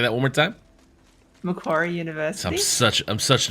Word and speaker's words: Macquarie: to say the name of your college correctly Mac choir Macquarie University yeah say that one more time Macquarie University I'm such I'm such an American with